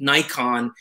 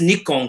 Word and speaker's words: Nikon: e and it's just only americans north americans that say nikon it is nikon correctly so me being japanese i'm not going to say it wrong because it's like making